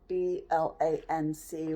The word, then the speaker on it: blanc: I think I'm using the b-l-a-n-c which is pronounced Blanc that's what I'm using for